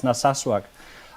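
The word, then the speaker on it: Narsaq: from a town called, is it Nasak in southern Greenland? Nasasak. Uh yeah, it's a it's a difficult name to to pronounce, but yeah, it's Naswak.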